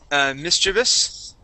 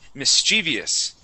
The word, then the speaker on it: mischievous: Okay, now this word here we can say mischievous. Okay, we can also pronounce the word mischievous. Okay, you may hear the word both ways. Neither way is correct. I've heard it both ways.